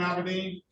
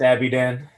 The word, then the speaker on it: Aberdeen: right of your first name aberdeen no it's abby dan abby dan okay i'm sorry no